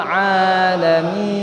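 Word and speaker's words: العالمين: Alhamdulillahi Rabbil Alamin. Jadi pakainya Al-Alamin. Pakai ain, Bu, ya. Pak, pakai ain. Dan ainnya jangan masuk ke hidung. Al-Alamin. Bareng-bareng, Pak. 1, 2, 3. Alhamdulillahi Rabbil Alamin.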